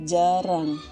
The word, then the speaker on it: jarang: Jara Latinnya adalah jarang. Nah, di sini kata jara tidak ada eng-nya juga. Jadi meskipun lontaranya jara, bacaannya tetap jarang, atau bacaan Makassarnya adalah jarang.